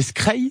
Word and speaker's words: skrei: précisemment du cabillaud alors pour la prononciation c'est skrei c'est ça oui c'est assez le cabillaud secret secret comme la craie le casio secret c'est